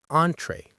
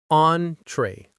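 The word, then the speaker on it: entrée: Entree. Entree. The stress is on the first syllable.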